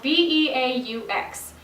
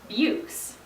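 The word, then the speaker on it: beaux: If you'd only ever read this word, you might think it's pronounced bukes. Actually, it's not. It's a French word that is now common in the English language and is pronounced beau.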